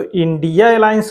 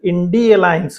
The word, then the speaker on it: Indi Alliance: तो इंडिया अलायंस उसको आप नहीं कहेंगे, उसको अगर उच्चारण सही ढंग से आप करना चाहते हैं तो उसका उच्चारण इंडी अलायंस होगा, तो उसको इंडी अलायंस कहिए।